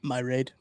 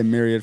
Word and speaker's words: myriad: how to pronounce it how did you think my raid i flipped the a of the i um i like that you know that might be how i say myriad from now on i